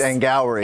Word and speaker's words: Angourie: You said it that because you didn't know how to pronounce her name. I don't. It's Angourie Rice? It's Angourie.